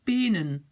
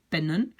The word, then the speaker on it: pennen: Si maintenant j'écris ça comme pluriel, je vais prononcer penen. C'est pas bien. Pen, pennen.